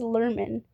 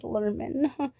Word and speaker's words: Lerman: His name is pronounced as Lerman. I am still learning that. I thought it was Larman this whole time.